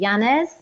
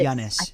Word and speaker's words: Llanes: But there was one area which was in, if I'm pronouncing this correctly, Llanes. It's actually spelt double L-A-N-N-E-S, I think. But Llanes, yeah.